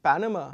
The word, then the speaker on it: Panama: The word banana basically has, which is the stress? So just look at this, banana. So na, basically the second syllable is the one that is stressed, and the third and the first are slightly less stressed. Okay, whereas Panama, basically the first syllable is stressed and the second and the third syllables are not stressed.